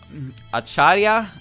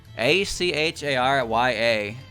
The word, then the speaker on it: Acharya: right next hopeless masquerade acharya i don't know that word actually a-c-h-a-r-y-a a-c-h-a-r-y-a a 20-22 film pronunciation please acharya acharya okay it's actually it actually sounds like it's spelt that's impressive according to